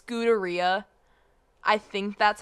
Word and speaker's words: Scuderia: It sounds It's Scuderia, I'm fairly sure. How else would you How would you else would you pronounce that? I would say Scudera, but No, it's it's Italian.